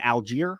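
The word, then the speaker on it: Allgeier: to shutting down the Run between Bijan and Alger right that's how you say his name yep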